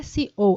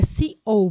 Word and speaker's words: CEO: Não é CEO, é CEO, porque a pronúncia é feita em inglês.